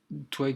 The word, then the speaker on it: Twaig: Twig, ça s'écrit Twaig.